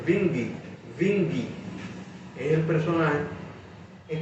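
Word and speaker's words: Windisch: El nombre, la gente dice Wingy, realmente en alemán la W se pronuncia V. Por lo tanto, el nombre debería decirse Wingy.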